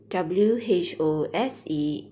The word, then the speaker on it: whose: slide is talking about who's w-h-o-s-e is pronounced as who's what is whose meaning